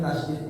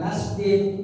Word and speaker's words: tasydid: Ngomong ini kan ditasydid, ya, bukan tasdid. Apalagi tasdid. Kalau udah mau tasdid makanya ya, ini ada tasdid, bukan tasdid. Tapi tasydid, tas itu double.